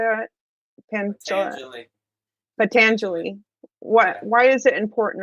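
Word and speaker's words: Patanjali: of pangel pangelia how do you say it patangeli what why is it important and why do I need to know about it uh the yoga sutras of patangeli is important because patangeli was a great yogic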